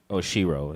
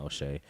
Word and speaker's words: Oshiro: Oshiro is what it was, not O'Shea.